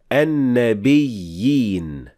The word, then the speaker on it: النَّبِيِّينَ: You have to show that there is two ya, one after the other. Even though it is just a symbol of the ya, it is still a fully pronounced ya.